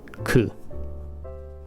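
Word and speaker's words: く: It's just the consonant plus the same vowel. It will always be ku.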